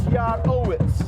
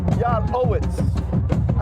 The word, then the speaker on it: Yarowitz: But since we got Yarowitz, who can really, and I got the proper pronunciation, it's Yarowitz. Yarowitz.